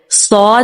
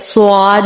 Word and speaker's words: صاد: صاد کے بجائے سواد ہو جاتا ہے یا زواد ہو جاتا ہے، ٹھیک ہے.